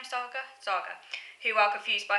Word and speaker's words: Saga: nonautistic figures surrounding um Saga is how you pronounce the name Saga Saga who are confused by her behavior so